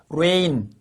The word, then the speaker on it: reign: 그래서 여러분 G를 집어넣는데도 불구하고 발음이 똑같아. 발음이 똑같아요. rain 똑같습니다.